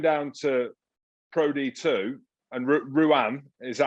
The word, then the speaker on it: Rouen: But going down to Pro D2, and Rouen, is that how you say it? Rouen? Rouen, yeah.